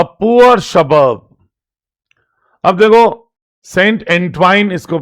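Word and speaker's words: Saint Antoine: अब देखो, सेंट एंट्वाइन इसको प्रोनाउंस करते हैं।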